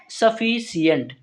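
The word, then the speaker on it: sufficient: इसका हिंदी उच्चारण करेंगे। ध्यान रखेंगे। तो इस वर्ड को पढ़ते हैं सफिशिएंट। लास्ट में क्या आता है? ट आता है।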